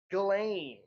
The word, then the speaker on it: Ghislaine: Uh how did they pronounce it on the Netflix special? Gain it's which is not how it's spelled at all.